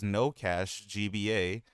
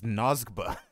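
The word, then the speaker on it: NO$GBA: Though I didn't pronounce it as No Cache GBA. I pronounced it as Nosgba.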